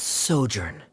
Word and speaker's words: sojourn: clear uh directors osimos how do you pronounce this word let me see Ah that's sojourn it means to stay for a while this